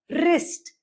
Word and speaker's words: wrist: When W comes before R, it usually becomes silent. For example, right. W R I T E. We will not pronounce this at right. We'll pronounce this as write. Write your name or wrist. It's never wrist. Write wrist. You only get to hear the R sound and W does not make any difference.